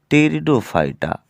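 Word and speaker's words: Pteridophyta: जो तीसरा बेटा जगत था उस जगत का नाम था टेरिडोफाइटा। क्या? टेरिडोफाइटा। पी साइलेंट रहेगा।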